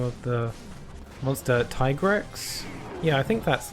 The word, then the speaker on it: Tigrex: It could either be Tigrex or Tigrex, but I think Tigrex makes more sense because it's tiger. Tiger T-Rex.